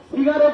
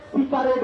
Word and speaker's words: সিগারেট: Aniket Mahato সিগারেট উচ্চারণটাকে সিকারেট বলে, সিকারেট যখন বন্ধুরা সিগারেট